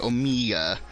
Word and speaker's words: Omega: That's how you say her name, Omega.